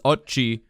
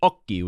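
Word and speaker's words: occhi: say one he says ochi because the word is spelled o c c h i but in italian you pronounce it okie which means eyes that's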